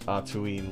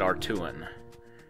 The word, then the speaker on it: Atuin: One day the great Atuin will just decide to shake us all off. In the audiobooks, they pronounce it Artuin. That ain't right.